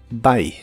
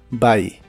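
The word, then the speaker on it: buy: como una a y se pronuncia igual que la palabra adiós en inglés by by el auxiliar would con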